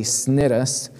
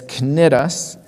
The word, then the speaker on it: Cnidus: number of days and arrived with difficulty at Cnidus. Believe it or not, that sea is pronounced like a K. I had to look at the original Greek because I wanted to say Cnidus, but it's Cnidus.